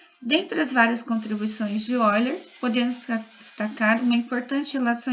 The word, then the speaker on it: Euler: Se lê Euler, né?